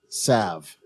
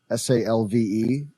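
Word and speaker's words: salve: i pronounce this word sav s-a-l-v-e yes i put the l joe you say it like i do and you say salv i say i say just a very light l yeah i think the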